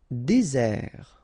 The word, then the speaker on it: désert: Désert, okay, remember, final T not pronounced, désert, and really this z sound just because you get one S between the two vowels, okay, z, désert.